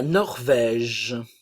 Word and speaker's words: Norvège: S se prononce maltaise la Norvège la Norvège le E ne se prononce pas norvégien norvégienne ok n